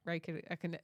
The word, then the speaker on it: Räikkönen: And then personal favorite driver, Kimi Räikkönen, personal favorite, but I can't pronounce his last name.